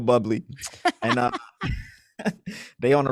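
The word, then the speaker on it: Bublé: my wife was like stop mispronouncing that man's name blue blaze it's real it's like bubble bubbly it is like michael buble he on tour with michael bubley and uh they on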